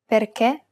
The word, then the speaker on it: perché: The other accent is the acute accent, and it's used to indicate that we should pronounce it as a closed E. Perché, finché.